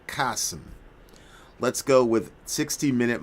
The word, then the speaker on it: Chasm: The omnipotent codeex pronounced like kasum.